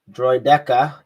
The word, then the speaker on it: Droideka: And the sergeant appears only in the clones versus how do you pronounce that word again? Droideka.